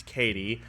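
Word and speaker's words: Cady: So basically what happens is that the young girl who's like the main girl, her name is Katie, but it's spelled C-A-D-Y because they hate us.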